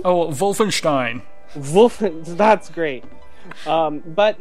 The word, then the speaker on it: Wolfenstein: but this is um you know it's it's Wolfenstein yep I'm going to love this game um